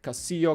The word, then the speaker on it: Castillo: I mean, I think I heard like these names a lot here, like Castillo, Castillo. It's like you pronounce it with the yo, double L in Spanish is like differently pronounced.